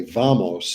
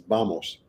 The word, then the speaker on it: vamos: would like study Spanish you would say vamos but it's not it's vamos vamos they don't get the sound but so the V always sounds like a b but other than that